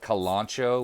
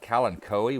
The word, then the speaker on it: kalanchoe: Some people call it kalanchoe, which is how I always call it. I see on YouTube some people call it kalanchoe, which seems really weird, but let's call it a kalanchoe.